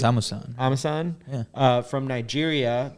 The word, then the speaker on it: Amusan: But then I guess the big story coming in is Tobi Amusan, I hope I pronounce that correctly. it's Amusan.